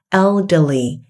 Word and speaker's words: elderly: nghĩa là lớn tuổi cái này để ý cách đọc nha nó sẽ là âm e n l elderly elderly lớn tuổi rồi ví dụ nha There